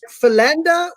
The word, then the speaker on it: Philander: to say your name i've heard pilende as well so yeah you know that's how i grew up so that's that that